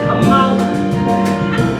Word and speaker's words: Kamala: Yes, pronounced Kamala.